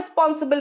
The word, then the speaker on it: responsible: You are responsible for this. You are responsible for this. Responsible নয়, responsible. Responsible. Res নয়. Spellingটা res, pronunciation ris.